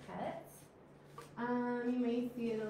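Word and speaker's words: חית: So you do, it's not Chet like chi, you know, the CH in English. It's Chet.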